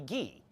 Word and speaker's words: Guy: do I call you my name is guy but I guess where you're from you would call me gee but guy is just fine guy we we we pronounce it guy uh Dron yes that